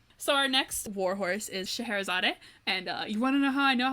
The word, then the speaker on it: Scheherazade: Well, the song starts, he goes, Alibaba had them 40 thieves, Scheherazade had 1,000 tales. And that's how I know how to pronounce it. Thank you, the Disney company. Thank you, Robin Williams. So, Scheherazade.